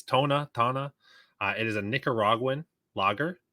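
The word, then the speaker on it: Toña: So it's pronounced, it's Tona.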